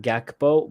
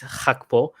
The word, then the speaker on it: Gakpo: So native English speakers are always going to pronounce that Gakpo, but in the Netherlands, the way to pronounce that is Hakpo.